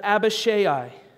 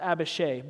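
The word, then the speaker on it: Abishai: a new sword thought to kill David but a Bechet eye now I know that that's actually pronounced a Bechet but I'm from the south and I think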